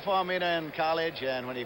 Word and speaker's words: Faumuina: The Samoan pronunciation pronounces every letter. There are no silent letters, so it's Faumuina.